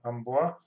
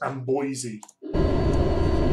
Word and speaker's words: Amboise: Yes, we should be in Amboise. That's probably not how you pronounce it, but it's the way I'm saying it. In fact, it's Amboise. British.